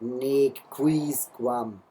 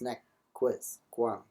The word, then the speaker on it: nec quisquam: Still, this is not nec quisquam. Obviously, these are short vowels. Nec quisquam.